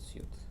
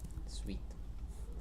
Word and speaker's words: suite: remaining items, then run scheduled test, run scheduled suit. suite, run scheduled suite, test suite.